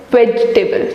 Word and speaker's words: vegetable: Actually, the second E in this word is silent. It's vegetable, not vegetable.